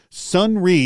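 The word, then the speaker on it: Sonrai: site and now listen because it's not spelled the way it sounds sunri is spelled s o n r a i .o that's s n r ai.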